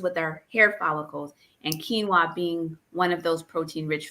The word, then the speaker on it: quinoa: And they look at it and it's spelled, they think it's a quinoa, but it's quinoa.